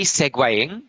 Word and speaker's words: segueing: So yeah, if you see segueing, you know, you're Yeah. Oh, yeah. Segueing. Yeah, that's how you pronounce it.